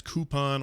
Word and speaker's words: coupon: now you say cute now you say coupon is the correct way to say it yeah cuz it's not really cute yeah right that's coupon or you know like